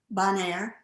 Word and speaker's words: Bonair: of your iowa town bonaire it's a which is actually you know it's a french name it wasn't pronounced in a very french way bonaire but it's not even